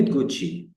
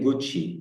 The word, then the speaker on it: Gucci: كلمة جوتشي، الدبل سي، السي سي دايما. أنا قلتها إيه؟ جوتشي طبعا كلمة إيطالية، ماركة ملابس.